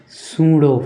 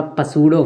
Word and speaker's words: pseudo: क्योंकि इसका नाम है पीस सूडो फोर्स। तो उसको कोई-कोई बोलेगा पसूडो फोर्स। ये पसूडो नहीं है। इसका नाम है शूडो फोर्स। शूडो। ये सूडो फोर्स क्या होता है?